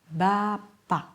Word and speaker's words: bapak: Final K often becomes a glottal stop.